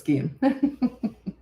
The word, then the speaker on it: Gian: Gian is the way you say it. It's Italian pronunciation. Oh, I see. The Italian pronunciation is. Oh, I see. Okay, so it's Gian.